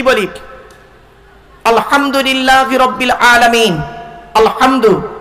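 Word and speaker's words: الحمد: বলি আলহামদুলিল্লাহি রাব্বিল আলামিন আলহামদু এই গলার ভেতর থেকে হেটা উচ্চারণ করবেন আলহামদু মানে হচ্ছে সমস্ত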